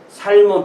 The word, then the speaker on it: Salmon: 근데 영어로는 이게 생선을 부를 때는 세먼 이렇게 부르고, 이 사람을 읽을 때는 살몬 또 이렇게 읽습니다.